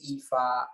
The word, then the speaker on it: Ifa: is branded and uh acronym is EFA which is the pronunciation of my name uh what I do